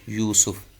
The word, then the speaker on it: یوسف: وہ ہے لفظ یوسف۔ تو درست تلفظ یہ یا پہ بھی پیش ہے اور سین پہ بھی پیش، یوسف۔ اذ قال یوسف لابیہ